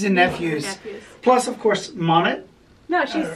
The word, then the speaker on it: Monet: And so our niece is Monet, and it's spelled M-O-N-E-T.